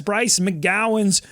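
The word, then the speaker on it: Bryce McGowens: But I think it's part of their job to know the names and how to pronounce. You get a guide at the beginning of every game. It's Bryce McGowan's.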